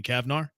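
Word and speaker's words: Cavnar: Okay, I guess it's pretty it's spelled C A V N A R seems like a Cavar to me, right? Yeah, sure. Jenny Kavnar. That sounds like you said it right.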